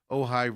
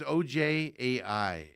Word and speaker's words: Ojai: By the way, it's OJAI is how it is spelled. Pronounced Ojai, I do believe, according to my research.